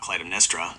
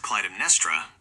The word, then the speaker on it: Clytemnestra: In ancient Greek and Latin, syllable weight determines the stress. The name is broken down as Cly-tem-n-e-s-t-r-a. The penultimate, second-to-last, syllable is n-e-s. Because it ends in two consonants, street, it is a heavy syllable. By the rules of classical linguistics, a heavy penultimate syllable must take the stress. Therefore, it is definitively Cly-tem-n-e-s-t-r-a, never Cly-tem-n-e-s-t-r-a.